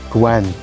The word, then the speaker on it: gwen: and the feminine is gwen notice the feminine one is a bit lighter in the vowel sound and the masculine is a bit darker gwyn and gwen this